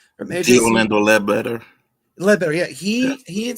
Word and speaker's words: Orlando Ledbetter: Diorletta Blocker? Is that how you say his name? Orlando Ledbetter.